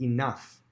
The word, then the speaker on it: enough: The next word, enough. Enough, the variant consonant spelling there is the gh makes an f sound.